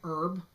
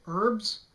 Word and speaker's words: Herb: herb that's a rule we will pronounce the h if it's a person's name now what really bothers